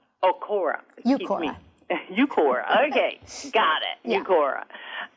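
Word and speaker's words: Uqora: UCORA. UCORA. UCORA. UCORA.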